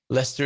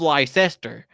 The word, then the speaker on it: Leicester: defend there for right lester is really hard with people with dyslexia okay it's not pronounced great is it it's not written how it's pronounced especially americans i love lycester you know lots about